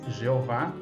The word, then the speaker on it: Jeová: como legítimo, no caso, se referindo à pronúncia em português, Jeová, sim, porque sabemos que em hebraico é Yehová, tudo bem.